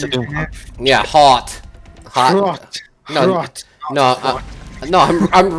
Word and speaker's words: Hrot: Rot. Oh yeah. HR. HROT. Yep. Thank God I know how to pronounce it. Rot.